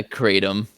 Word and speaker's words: kratom: I always thought it was pronounced kratom or kratom or whatever. Nah, kratom.